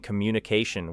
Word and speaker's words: communication: The word communication places the strongest stress near the end, creating communication, while opportunity becomes opportunity, and responsibility places the main stress on BL, creating responsibility.